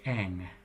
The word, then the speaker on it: eng: That's ang. E-N-G. Ang is the name of the symbol.